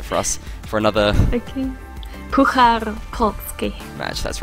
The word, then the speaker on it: Puchar Polski: You have to pronounce it for us. For another... Okay. Puchar Polski.